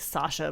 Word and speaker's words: Saoirse: nationality that is but she's Scottish it's English Sasha it's like Sasha but drunk she I just I